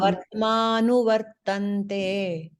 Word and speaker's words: वर्त्मानुवर्तन्ते: How do I pronounce that word? Mama vartmanuvartante.